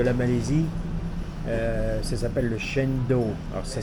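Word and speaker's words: cendol: Ça s'appelle le Chendol. Alors ça s'écrit C-E-N-D-O-L.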